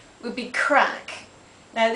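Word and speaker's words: craic: uh C would be crack now this is c r a i c and not crack as in crack in the ground um people say what's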